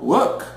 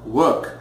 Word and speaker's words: work: Mesma coisa é o verbo work, ok? No inglês britânico, work, eu pronuncio um som A, ok? E sem som de R, enquanto no inglês americano, work, a presença do R é mais forte, ok?